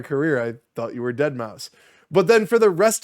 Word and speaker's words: Deadmau5: It's me, Deadmau5. Yes, that is the actual pronunciation of it. So you know, get it right.